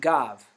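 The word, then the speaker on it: גב: have this Hebrew word the Hebrew word for back like my back or the back of something is gav it's pronounced gav okay it's written traditionally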